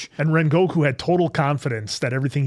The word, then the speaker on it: Rengoku: I did like the whole episode with our Rengu Rengoku. I said it right? Uh Rengoku is how it's said.